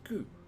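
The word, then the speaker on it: ぐ: This is gu. You pronounce this as gu, like ooh, it's gooey. So write ku as normal,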